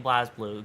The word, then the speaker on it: BlazBlue: Blaze was the correct one. They all pronounce it that way in game. Really? I'm gonna still keep saying BlazBlue, considering it's spelt that way, and it's easier to say that.